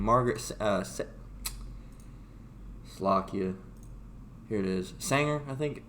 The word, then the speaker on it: Sanger: Sanger, I think it's pronounced.